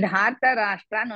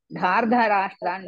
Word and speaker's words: धार्तराष्ट्रान्: Uttamam Bhagini, Dharta Rashtra'n only is the one. Dhardha Rashtra'n you don't say. Because of your pronunciation, it looks like that.